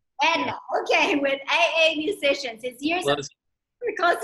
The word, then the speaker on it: Andai: Is it Andia? Did I say it wrong? Anda.